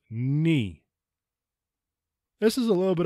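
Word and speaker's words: ν: thing for this one it is not new it is NI this is a little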